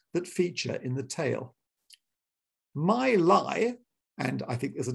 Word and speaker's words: Mi Li: written between 1766 and 1772 but the fifth my lie a chinese fairy tale that's spelled m-i-l-i my lie must have been written after the death in